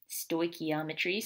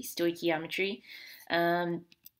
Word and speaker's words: stoichiometry: um first of all the way you pronounce that is stoichiometry so make sure you can say it correctly stoichiometry and it comes from